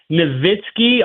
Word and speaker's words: Nowitzki: But I guess I never pronounce people's names right, because I always used to say Dirk Nowitzki all the time, kind of like a V, and I don't know if that's the proper terminology.